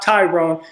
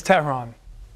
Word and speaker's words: Tehran: my name I'm like no it's not ton it's not Tyrone it's ton my name is my name is Terron and I have a